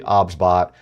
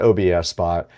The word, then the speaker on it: OBSBOT: The pronunciation of the product is actually OBSBot, It is not OBS Spot.